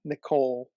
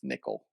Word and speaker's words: Nicole: funny yeah because uh it says Nicole but his the way you're supposed to pronounce the name is nickel so that's why the